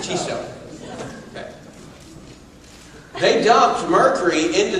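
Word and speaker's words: Chisso: This company, and I'm not sure, maybe somebody from Japan can pronounce this for me, is it Chiso or Ciso? Chiso. What? Chiso. Neither one that I said. Chiso.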